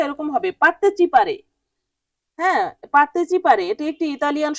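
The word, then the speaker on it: partecipare: পরের শব্দটি হচ্ছে পারতেচিপারে পারতেচিপারে পারতেচিপারে উচ্চারণটা এরকম হবে পারতেচিপারে হ্যা পারতেচিপারে এটা একটি ইতালিয়ান শব্দ এর বাংলা শব্দ হবে অংশগ্রহণ করা পারতেচিপারে মানে অংশগ্রহণ করা ইংরেজিতে কিন্তু অনেকটা সেইম আসে উচ্চারণ যেমন পার্টিসিপেট ইংরেজিতে আমরা কি বলি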